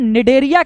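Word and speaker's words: Cnidaria: इस फाइलम को हम निडेरिया के नाम से भी जानते हैं, और यहां पर निडेरिया में आप जब स्पेलिंग लिखेंगे तो सी से स्टार्ट करेंगे, CNE, ठीक है, सी साइलेंट होती है।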